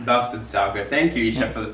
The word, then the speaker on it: basterdsuiker: Bastard sugar. Bastard sugar. Thank you, Isha, for the pronunciation.